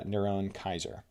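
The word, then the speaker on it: נרון קסר: Here using English characters, the Hebrew form of Caesar Nero is Niron Oser pronounced uh Niron Kaiser.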